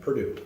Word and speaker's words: Purdue: Purdue.